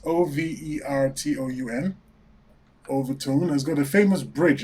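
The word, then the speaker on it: Overtoun: strange thing strange events and this town called overtone overtone it's in Scotland it's a good listeners how to pronounce it it's o-v-e-r-t-o-u-n overtone has got a famous bridge and the bridge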